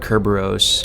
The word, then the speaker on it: Cerberus: in the secondary form pronounced as the Greek word Kerberos this creature was named